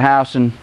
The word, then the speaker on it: Houston: It's spelled Houston. They pronounce it Houston. Been a lot of arguments on the side of the road telling people, call the Houston County State Court. No, Houston, no Houston.